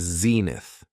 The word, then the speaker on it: zenith: The next noun is zenith. It has two syllables and the stress is on the first syllable.